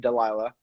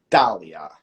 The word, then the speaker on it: Dahlia: Tonight we got Conservative Ant, and on the we have Delilah. That's how you say her name, correct? I think it's Dahlia.